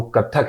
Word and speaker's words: कथक: बाद में वो शास्त्र से जुड़ा और वो कथक कहलाया, इसलिए पहले उसे कथिक भी कहा जाता था। इसलिए अभी कथक से ही उसको प्रोनाउंस किया जाता है और उसी के नाम से वो विख्यात है।